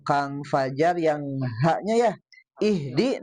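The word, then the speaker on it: اهدِ: Nah, kalau Kang Fajar yang haknya ya ihdi. Nah, haknya hak besar itu ya. Nah, tadi dibaca haknya hak kecil. Harusnya di.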